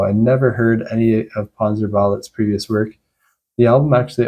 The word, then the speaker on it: Panzerballett: I thought the band might have been pronounced Panzerballett, like ballet, the dance style, but there's an extra T at the end.